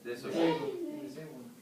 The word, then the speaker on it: disobey: How many syllables are there? 3. Okay. Where is the stress? Diso. Disobey.